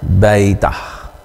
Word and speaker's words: beta: huruf besarnya huruf kecilnya pengucapannya baitah ditulis dalam abjat latin huruf b biasa diucapkan seperti kata biru kemudian huruf yang ketiga